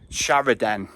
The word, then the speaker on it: Shrawardine: Westerly sort of North Westerly shopshire Village of sh wooding or Shorewood um but it is actually pronounced locally as sharidan so I got that right early on um